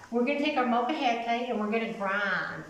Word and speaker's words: molcajete: You got to pronounce every syllable, and it's called the molcajete. So together, real slow, molcajete, molcajete.